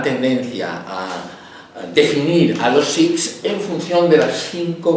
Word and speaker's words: Sikhs: la K y la H como J, lo cual es totalmente incorrecto en el caso de los Sikhs. En el caso del árabe sí es muy correcto, porque la K y la H se pronuncian J. Pero en el caso de los Sikhs, que no tiene nada que ver con el árabe, que la lengua es Punjabi, esto es un K.